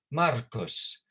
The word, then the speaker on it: Marcus: It's Latin pronunciation. So Germanicus, Germanicus, Marcus.